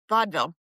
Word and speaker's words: vaudeville: How would you pronounce it? Vaudeville. Vaudeville.